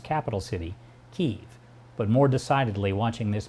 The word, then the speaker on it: Kyiv: "the" in front of Ukraine and the correct pronunciation of its capital city, Kyiv.